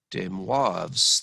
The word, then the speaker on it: de Moivre: we get something called de moivre's theorem it's french so you don't pronounce the r at the end such a wasted consonant